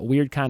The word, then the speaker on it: Wyrdcon: And Weird Con is spelled WYRDCON.